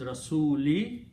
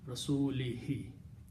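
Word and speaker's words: رسوله: But to make easy on the tongue, to bring the rhythm, he is simply pronouncing he, because if you in kasra and dhamma, the tongue moves in different positions. But if you have kasra and then you continue next letter as kasra, it's easy to pronounce and comes out beautifully from the reciter. So this change is only the tajweed.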